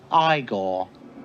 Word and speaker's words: Igor: marty Feldman has Igor now it's pronounced I goal it's clear that this